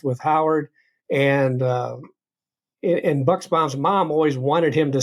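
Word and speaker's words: Buchsbaum: of the story and I didn't realize that it was actually pronounced bucks bomb until I didn't know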